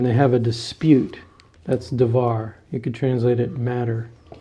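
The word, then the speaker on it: דבר: But it's interesting that in this passage we're going to have dvar, which is the word thing.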